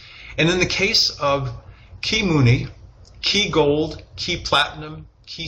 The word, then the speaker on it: kiMuni: people might read and see as ki or kai money, is actually pronounced kiMuni.